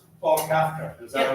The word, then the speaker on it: Kafka: It's Paul Kafka. Is that Yeah, how you pronounce sure. it? Kafka? As in Franz Kafka? Yeah, that's me. Kafka. Kafka. Some people say Kafka, that's fine.